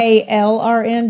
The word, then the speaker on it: KLRN: KLRN?